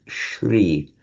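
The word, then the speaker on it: श्री: By the way, not the same as Shri. Shri with a long E is glory, light and glory. It's the same as in Sri Lanka. It's that, the long E.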